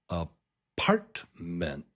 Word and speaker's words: apartment: Now, there are three syllables here. Three and the strong beat, the strong syllable is in the middle. It's syllable number two. So, it's a partment, apartment apartment a partment,